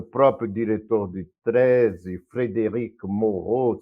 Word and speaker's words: Mauro: diretor de tese, Frédéric Moreau, se escreve Mauro, se pronuncia Moreau, era um discípulo do